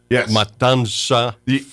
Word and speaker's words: Matanza: I would say is it's spelled M A T A N Z A Matansa for us gringo us gringo we want to put that N before the T and that's not it's m a t I did it